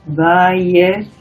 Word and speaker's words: Weierstrass: Para pronunciarlo así, Weierstrass.